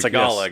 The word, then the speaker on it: Tagalog: But that's not how it's Is pronounced. it Tagalog? Tagalog, I think. Tagalog, yes.